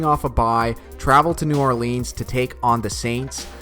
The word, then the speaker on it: New Orleans: your big rise says everything so phonetically New Orleans it's like he says Colonel is : el it's nollans bro how many times I